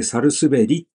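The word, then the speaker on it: 百日紅: お父様、百日紅と書いて、どうしてサルスベリと読むんですか？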